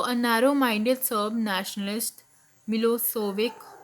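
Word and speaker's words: Milošević: So, a narrow minded Serb nationalist, Milosevic, pronounced Milosevic, had won the election.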